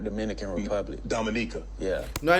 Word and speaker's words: Dominica: mom is from the Dominic your father is Dominico Dominica Dominica yeah oh okay not not Dominican Republic Dominica yeah now I know a number